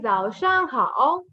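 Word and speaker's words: 早上好: How? How we already read here. No, ni hao, the same pronunciation. Ditto. So we say Zhao Shang Hao.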